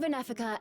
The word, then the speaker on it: Wenefica: found interesting is um the W's pronounced with a V so Vena and not